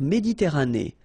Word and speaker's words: Méditerranée: La mer Méditerranée. Okay, here final not pronounced, but then you pronounce this E at the end. Méditerranée.